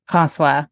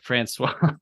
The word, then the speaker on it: François: How do you pronounce his name? François. Yeah, I'm going to say like Francois.